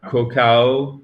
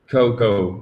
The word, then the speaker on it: cocoa: Et c'est pas cacao, c'est cocoa, OK? Le A, vous pouvez l'enlever.